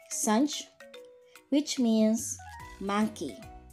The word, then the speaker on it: singe: Like sunch, which means monkey. As you can see here, the letter I is pronounced like as A, and we will get the logic of this in the future videos, okay?